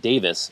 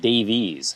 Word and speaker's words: Davies: a big Kinks fan didn't know it was pronounced Davis not Davies so Ray Davis is